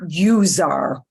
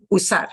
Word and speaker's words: usar: might mean USA usar be careful not to anglicize this one not use our usar nice short simple verb